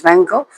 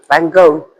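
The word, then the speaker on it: Van Gogh: And this one is Van Go. Van Go. Say it properly. Van Go. I depend. I thought he was Dutch. I think you can say go.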